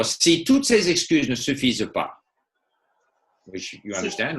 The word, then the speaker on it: suffisent: In other words, the ENT of that they form is never pronounced. So, si toutes ces excuses ne suffisent pas, so ne suffisent pas, the NT is not pronounced.